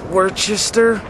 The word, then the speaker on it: Worcester: get the scoop man first Worcester Worcester Mass Worcester Massachusetts that's how they say it I'm from Connecticut we say which is Worchester something like that yeah I don't know